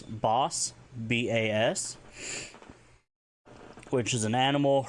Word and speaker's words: bas: If you want to talk about herbivore, it's Bas, B-A-S, which is an animal herbivore, any which can be hunted and used for meal. A baby animal, Basika, B-A-S, Betten, I-K-A, Basika.